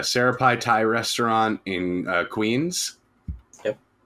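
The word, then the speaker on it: Sri Praphai: place and syrup pie it's uh pronounced so yeah Sarah pie Thai restaurant in Queens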